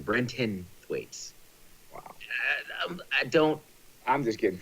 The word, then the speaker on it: Brenton Thwaites: Brinton the what don't wanna see the furnace mispronouncing his name Thwaites brendan Thwaites is the guy's name Brenton Thwaites I don't I'm just getting frustrated with the